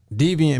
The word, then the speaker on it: Deviant: the weed song with Vic deviant made that beat that's how you say his name okay deviant yeah deviant man um it's deviant and is Vic Rose